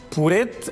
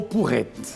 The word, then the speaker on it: porrete: Porete ou porrete. No português padrão, a palavra correta é porrete. Embora frequentemente ouçamos porete.